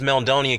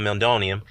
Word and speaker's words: meldonium: You said that, well, Povetkin, this Meldonian case, which you didn't pronounce right, is called Meldonium.